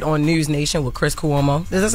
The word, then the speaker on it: Cuomo: so he appeared on news Nation with Chris kuo is this how you say his name Cuomo Chris Cuomo okay during the conversation Ray J